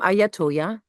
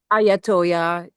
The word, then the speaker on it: I Ya Toyah: also your name because I don't want to mispronounce it during the interview. Oh, absolutely. So, I am Ayatoya. I got that one right. Ayatoya is the band the brand, right?